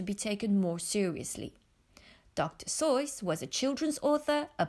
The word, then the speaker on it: Seuss: Seuss but dr. Seuss that's right choice like in voice dr. Seuss your turn to pronounce fun fact number two another surprising fact